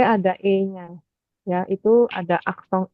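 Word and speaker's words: accent: itu namanyasong coba Iya tulisannya Acen bacanya aksong Oh dari dari eh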